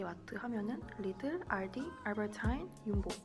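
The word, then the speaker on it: Jumbo: 그래서 큰 4개 마트 하면은 리들, 알디, 알버타인, 윤보. 전보 아니고 윤보예요. 왜냐면 네덜란드에서는 J를 R로 발음을 해요. 그래서 전보가 아니라 윤보.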